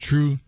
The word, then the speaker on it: 2Ru3: you can just search my name which is pronounced true and you'll see it